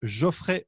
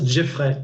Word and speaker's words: Geoffrey: les Canadiens prononcent Jeffrey. Voilà, Geoffrey, c'est classe, hein, moi je trouve.